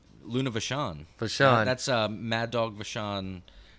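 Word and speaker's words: Vachon: next week's episode is about luna is it pronounced vatkon luna vashon that's uh mad dog vashon uh his daughter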